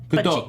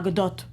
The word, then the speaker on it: Gadot: Gadot. Godot. So that's why a lot of people think it's Godot, because they just assume that the T isn't pronounced because Soft she's foreign, T.